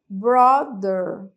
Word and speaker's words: brother: é a palavra brother brother brother Então esse th é th ali no no meio da palavra era como se fosse um som de D aí mesmo tá